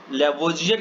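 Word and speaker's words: Lavoisier: वैज्ञानिक आंतवा एल लवाइजिए, जिसको इंग्लिश में हम लैवोजियर कहते हैं बट हिंदी प्रोनाउंसिएशन में हम लवाइजिए पढ़ते हैं, एंटोनिए एल लवाइजियर ने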